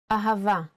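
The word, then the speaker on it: אהבה: Now let's spell ahava with the full nikud. Ahava. A-ha-va. Ahava.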